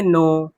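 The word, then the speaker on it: know: के एन ओ डब्ल्यू में एन ओ डब्ल्यू पढ़ेंगे, नो। के क्या हो गया? साइलेंट। बात समझ में आई? के साथ जब भी एन रहता है तो के हमारा साइलेंट होता है।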